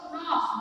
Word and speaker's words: gnaw: नॉ मतलब GNAW. तो प्रोनाउंसिएशन है वो नॉ है, लेकिन स्पेलिंग आपकी डिफरेंट है थोड़ी. तो नॉ, GNAW, नॉ, इसका मतलब है कि छोटे छोटे टुकड़े में उसको उतार डाल.